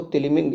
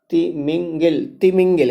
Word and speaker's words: तिमिंगिल: थोड़ा सा कहने में हमें वो प्रोनाउंसिएशन में हम वो हो गया। इसको सही शब्दों में तिमिंगिल कहते हैं, सही शुद्ध शब्दों में तिमिंगिल कहते हैं, ठीक है।